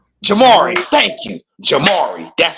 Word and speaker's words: Jamari: I I want to say is is is Jeremy or is that's not how you say it though.